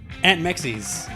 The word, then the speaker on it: Ant Meczes: Aunt Mexis, is that the correct pronunciation?